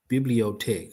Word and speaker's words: Bibliothèque: I need to, how you pronounce them? How do you pronounce it? Pronunciation. Let me get that first. There you go. Bibliotech.